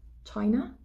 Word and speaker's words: China: C'est-à-dire par exemple Chine, qu'on dit China. Le CH, chai, on va dire plus rapidement que le na.